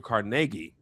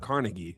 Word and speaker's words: Carnegie: ago about uh apparently his name is pronounced Andrew Carnegi. It's not Carnegie like I thought all these years.